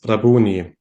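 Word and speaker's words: Rabboni: so this is the Aramaic word and this is pronounced as rabuni and is nowadays typically translated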